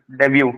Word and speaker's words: debut: Debut. Debut. D is silent.